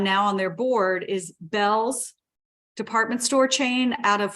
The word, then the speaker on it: Bealls: on their board, is Bell's department store chain out of Florida. It's spelled Bealls. Sometimes Okay. people mispronounce it as Beals and pronounce it phonetically, but it's called Bells.